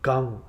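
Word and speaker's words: गं: And it's not, it's Gang. It's a short A.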